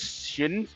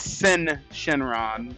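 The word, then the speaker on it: Syn Shenron: Shenron it's really it's sin Shenron that's how they pronounce it though I think the Y is just silent there he is back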